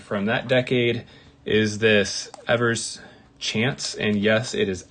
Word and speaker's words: Evers: my favorite card from that decade is this ever's chance and yes it is Evers not ERS um there was an interview with Johnny Evers